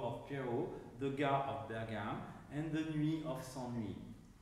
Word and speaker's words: Bergame: to B to E, which has the disadvantage of accentuating the first syllable of ber, the bergam, rather than the second, le ga, the bergam.